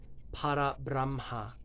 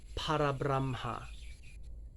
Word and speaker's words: Parabramha: Parabramha. I tend to roll my R's. Parabramha. So again, the first line. Sat, Chit, Ananda. Parabramha.